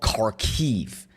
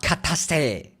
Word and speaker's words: Kharkiv: The place is called Kharkiv, not Kataste. But I guess that's how you pronounce it in Russian.